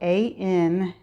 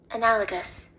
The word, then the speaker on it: analogous: The word is spelled A-N-A-L-O-G-O-U-S, and this is how it is pronounced. Analogous.